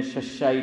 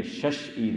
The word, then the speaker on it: شش عید: ہم لوگ بولتے ہیں ششا عید نا روزہ، کس کے روزے، ششا عید، ہاں یہ ششا نہیں ہے، یہ شش عید ہے، پر આપણે ગુજરાતી લોકો